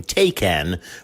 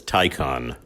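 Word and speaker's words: Taycan: of 162 mph you may have heard people pronounce the madeup name takan but it's Porsche's car and Porsche says tyon other electric vehicles the show will include a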